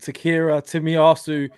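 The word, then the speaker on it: Takehiro Tomiyasu: So now over to our resident Takhiro Tomiyasu specialist, expert, Shaheen, who's going to give us a total rundown on Tomiyasu.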